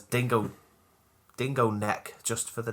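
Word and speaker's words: Dingo Nek: That's it's spelled N-E-C. I take it, not like dingo neck. No, N-E-K.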